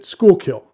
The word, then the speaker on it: Schuylkill: the dutch pronunciation but the people of the pennsylvania region pronounce it schoolkill in a rough translation